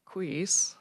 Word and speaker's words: Equus: some kind of beds, but Equus beds, yes. okay. Although I hear people say equis, and I'm not sure if that's regional or what, but I always hear equus beds.